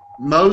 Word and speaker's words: Mohs: little bit sure um Mo surgery is spelled Mohs um after the man who uh invented the procedure his name was Frederick